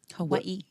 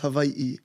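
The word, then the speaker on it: Hawaiʻi: Hawaii. Yeah. Well, yeah. It's actually it's pronounced. If you want to pronounce it correctly, it's pronounced Hawaii.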